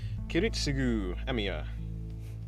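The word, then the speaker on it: Kiritsugu Emiya: Kiritsugu Emia, you're saying it correctly.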